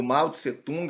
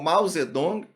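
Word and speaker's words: 毛泽东: A China vai tornar-se socialista sob a liderança aí do Mao Tse-tung, ou Mao Zedong, né, depende da forma de pronúncia, de tradução, na Grande Marcha.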